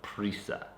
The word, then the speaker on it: prisa: In Spain, Americans have this reputation of having a lot of prisa. Did I say it right? Yes. I kept wanting to say like pizza.